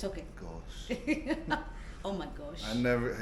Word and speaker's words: Ghosh: Most of you Westerners drop the H. It's Okay. Ghosh, so Ghosh. Ghosh. Yeah. Okay. No, you still can't. It's okay. Ghosh.